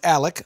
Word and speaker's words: Alex: At the Drew's Filthy Soup level, Alex Hutchinson, pronounced Alec, so I'm going to say Alec Hutchinson.